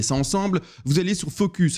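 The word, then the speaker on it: Fooocus: Vous allez sur Focus. Alors, précision, Focus, ça s'écrit F-O-O-O-C-U-S.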